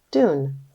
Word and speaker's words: dune: here's one more again the E is silent so that the U can say his name are you ready to